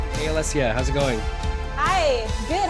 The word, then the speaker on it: Alessia: So my name is pronounced Alessia, which is you nailed it, which is good. A lot of people get it weird. Alicia, all kinds. But yeah, it's actually Alessia.